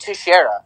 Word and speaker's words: Teixeira: It's pronounced Teixeira.